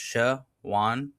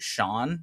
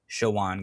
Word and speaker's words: Shawon: getting older pronounce it Shawn sometimes. Shawon, guys. Come on. Like it's clearly like there's an O in between the W and the N.